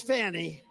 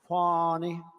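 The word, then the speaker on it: Fani: now even though it's I believe it's spelled f a ni I to my way of thinking that's Fanny but when she became the district attorney I think she put a little emphasis on you fonnie so corrupt fonnie Willis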